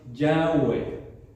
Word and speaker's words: Yahweh: Bueno, la pronunciación, como estábamos diciendo, la pronunciación es más o menos así: Yahweh, ¿verdad? Así pronunciaban posiblemente los judíos, ¿verdad?